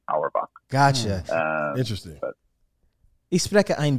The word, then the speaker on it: Auerbach: Is that how you pronounce it? Auerbach?